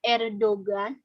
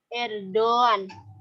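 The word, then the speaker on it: Erdoğan: tapi tidak dianggap gitu Jadi dibacanya bukan Erdogan Hai ikan er Doan jadi yumusak gini kayak kalau di dalam ilmu tajwid itu seperti Marco by untuk memanjangkan huruf sebelumnya kan kalau Mad Thobi'i Tuh kan ada Alif Wow adanya ya kalau alis gitu Untuk Yang berfathah kalau ya untuk yang berkasroh dan Wow untuk yang berdoa nah oh usah gitu juga gitu Jadi dibacanya er Doan gitu jadi untuk mancungin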